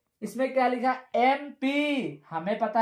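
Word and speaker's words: MP: लेकिन अगर हम एम का उच्चारण करें तो आता है ए, एम क्या आता है, ए आता है।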